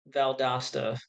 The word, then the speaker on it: Valdosta: Valdosta, pronounced like pasta.